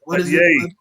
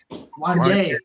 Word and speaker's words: Wanya: Brandy and Wanya Morris, did I pronounce it right or Wanya. Wanya, Wanya. I see you just know it sound too much like Kanye.